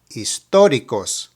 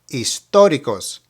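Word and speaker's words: históricos: focus on the word historicos just a little bit in Spanish the letter H is silent so you begin the pronunciation of the word with the second letter which in this case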